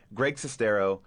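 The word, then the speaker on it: Greg Sestero: well one of the actors from the film Greg cestero uh that's I'm pronouncing your name yeah that's correct and uh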